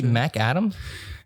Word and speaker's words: McAdam: Chance McAdams. Real hot mic. Is that how you say it? No S. McAdam is apparently how you're supposed to say it.